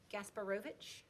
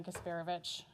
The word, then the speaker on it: Gasparovic: you very much i hope i say this correctly gasparovic okay say it again despair of it okay yes wrong syllable gotcha good evening everybody my name is kasperovich my address is also